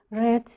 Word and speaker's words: read: a book three times red is a past participle of read it's the same spelling but the pronunciation is different um so she